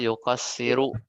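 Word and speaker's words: يُقَصِّرُ: Kosoro yukosiru ya, membatasi. Kosoro yukosiru. Kalau kosuro ini pendek, yaksuru harusnya. Kayaknya itu kofnya ini deh, apa? Tasdid itu. Kofnya, sodanya. Stopnya. Iya, yuk. Tapi bacanya yukosiru harusnya.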